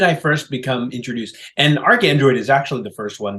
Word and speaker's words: ArchAndroid: The H isn't doing much work in the pronunciation, but thinking about it, like, oh, Archangel, Android, okay, we've got a little portmanteau here combining the words.